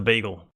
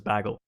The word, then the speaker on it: bagel: But yeah, we are headed into the bagel. The big one. The or bagel as some people say. I I I don't know why, but some people pronounce it as baggel.